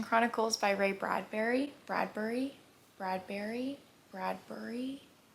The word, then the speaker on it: Bradbury: Bradberry. Bradbury. It's spelled Bur, so I'm going to say Bradbury. Ray Bradbury.